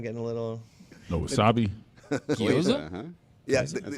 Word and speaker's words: gyoza: The goiza getting a little. No wasabi. gyoza.